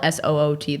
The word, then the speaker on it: soot: I can't believe it's spelled SOOT though. soot. Because Skims, one of their colors is soot. And I always would say suit.